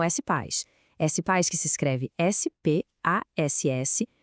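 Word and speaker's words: SPASS: S-Paz que se escreve S-P-A-S-S, é a nossa plataforma de benefícios.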